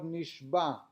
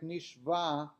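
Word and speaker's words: נשבע: One should carefully pronounce the ayin of the word nishba. Nishba is swore, so that it should not sound like nishba, captured.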